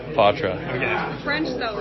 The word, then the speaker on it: Poitras: Matt Poitras. That is correct? Yeah, that's how it's pronounced, yeah.